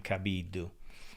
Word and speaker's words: Cabiddu: Gianfranco Cabiddu, but in Italian you pronounce my last name Cabiddu.